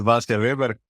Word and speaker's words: Vasja Veber: it's always an icebreaker it's a short lesson about Slavic languages where a j is pronounced as a y so there a short